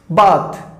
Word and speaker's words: bath: बात, मैं आपको एक वर्ड आप देता हूं, बात, जिसकी स्पेल है BATH, बात, समझ गए? लेकिन एक वर्ड और यूज होता है इंग्लिश में, दैट मीन स्पेलिंग जिसकी है BATHE, ठीक है, ये हो गया बात और वो होता है बैथ।